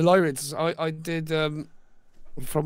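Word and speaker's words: Lyrids: Did you photograph the Lid meteor shower? Have I said that right? I probably said it wrong. Yeah, the Lyids.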